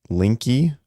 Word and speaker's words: Linke: We had Linky, really? There's no way. Say the E. There's no fucking way that your name is Augustus Linky.